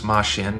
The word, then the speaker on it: Mashin: This spelling is interesting because it forces the reader to pronounce Mashin sounding like machine in English rather than Majin, the master of the chocolate bee.